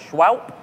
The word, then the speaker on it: Shwowp: I guess they're pronounced Shwowp.